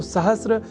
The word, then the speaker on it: सहस्र: पर हम जब अर्ध सकार के बाद र इस अक्षर का ध्यान रख लें तो सहस्र इस शब्द के प्रयोग में हम अपने आप को अच्छी स्थिति में पाएंगे, अर्थात उसका अशुद्ध उच्चारण नहीं करेंगे। तो यह शब्द सहस्र इस रूप में ही सर्वथा शुद्ध है।